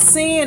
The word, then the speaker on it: Sin: And my name is spelled Sin, S-I-N. It's short for my full name, which is Sinicia. So it's like the original Sin, S-I-N.